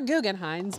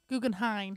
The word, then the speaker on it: Guggenheim: They are Guggenheims, by the way. We actually do know how to say it. Is it M or an N? N? Guggenheim. Guggenheim. Guggenheim.